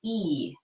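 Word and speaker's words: 一: You say it like this: E.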